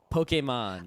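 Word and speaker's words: Pokémon: Pokemon Pokemon Pok Pokemon the correct pronunciation is Pokemon uh partly because they added in America that a above the E to make sure you say poke instead of Poké because pokem man is kind of perverted so the other pronunciations while fun are admittedly incorrect it's Pokemon my pokem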